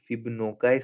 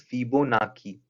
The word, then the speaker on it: Fibonacci: I have been calling this series Fibonacci series, but the correct pronunciation for this term is Fibonacci.